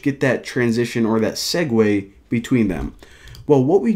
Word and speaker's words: segue: click the button now a segue of course that's how you pronounce that word actually didn't even know